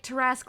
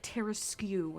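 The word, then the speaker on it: Tarasque: Oh yeah, Twiggy used to say Tarask like Terraskew, and so I've taken up that mantle just to piss people off.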